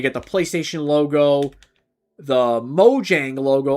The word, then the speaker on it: Mojang: You got the PlayStation logo, the Mojang logo, or the Moyang logo is apparently what it's pronounced.